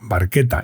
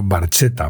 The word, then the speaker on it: Barchetta: Insisto, Barchetta y no Barchetta, porque la CH en italiano se pronuncia como si fuera una C, o una Q, o una K, como queráis.